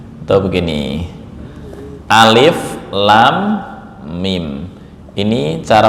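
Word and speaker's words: الم: Lam ini panjangnya enam harakat. Enam harakat. Nah. Mim bertemu dengan mim ini namanya idgham. Mimi ditahan 2 sampai 3 ketukan atau harakat.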